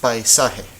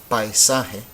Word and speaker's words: paisaje: Okay, so this word is paisaje. How many syllables do you hear? Paisaje. You should hear 3 because this is one of them. Paisa and he.